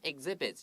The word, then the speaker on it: exhibit: Now, usually X 有这个 x 的发音 ks, but 这边事实上比较特别。Listen, exhibit 有一点像那个鸡蛋的发音 egg G 的发音 exhibit. I always tell students 这个 exhibit.Write a G here, so 你讲得清楚，不要说 exhibit，不对了，exhibit。对，这个地方 ex 它虽然是 x，但是这两个 k 跟 s 的声音都会变音，k 会变成 g，然后 s 会变成 z，所以是 exhibits。OK，所以要特别注意一下这个小小的细节，在以后在发音的时候就会更顺畅了。